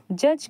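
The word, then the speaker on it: judge: Look at the word जज, जज के वर्ड्स को ध्यान से देखिए। व्हेन यू से इट the letter D is silent, तब आपको महसूस होगा कि जब हम जज पढ़ते हैं तो जज में जो डी है वो साइलेंट रहता है।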